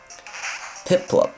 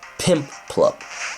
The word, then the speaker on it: Piplup: Piplup, not Pimplup. It's Piplup.